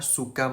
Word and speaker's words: suka: Don't worry "Orang Indonesia suka makan nasi" Why isn't it pronounced as "suka （苏卡）" It's because of the "k" sound It is pronounced as a light "g" sound We've emphasized it multiple